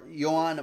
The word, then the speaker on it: Johan: 40 out of 4.99 joan johan martinez not joan i realized would not be pronounced joan that goes to the